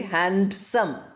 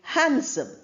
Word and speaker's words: handsome: We don't say handsome. we say handsome. So the D is not pronounced.